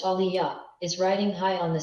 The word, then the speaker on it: Aaliyah: what I am the brooklyn-born Detroit raised Aaliyah pronounced Aliya is Riding High on the success of her